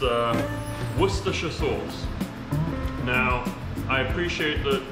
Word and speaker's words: Worcestershire: language first step is forget what it looks like forget what the word looks like it might look like well but i'm telling you it's three syllables worcestershire worse okay